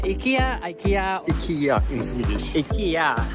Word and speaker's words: IKEA: IKEA.